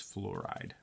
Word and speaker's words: fluoride: Okay, so cesium is spelled with ES, cesium, and then fluorine is spelled backwards, so it's UO, so it's not like flour, it's fluoride, Fluoride.